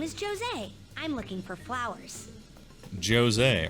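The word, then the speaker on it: José: like aggressive it's annoying do people pronounce jose with a j no they do not it's jose but this person said jose and so i'm assuming they said their own name right so for them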